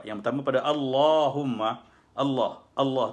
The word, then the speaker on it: Allah: tampak pada Allahumma Allah Allah tuh dibaca dengan double l ya lam allah' dulu gitu